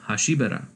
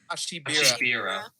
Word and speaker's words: Hashibira: Meanwhile, Nezuko is led away under strange circumstances and runs into Duma Hashibara, or Hashibara. How do you pronounce that? I don't know. Hashibira.